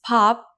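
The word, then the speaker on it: 밥: let's read this one can you read it correctly it's easy right it's pop meaning rice in korean with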